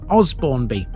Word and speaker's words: Osbournby: Outsiders might think this is Osbournby.